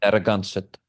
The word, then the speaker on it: Narragansett: It's pronounced Narragansett.